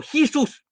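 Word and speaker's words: Jesús: Vargas, no, J is like an H, so Jesus.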